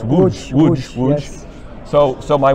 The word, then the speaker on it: Łódź: I'm going to say the American pronunciation, Lotz. Uh-huh. Is that right? Lotz, but it's Łódź.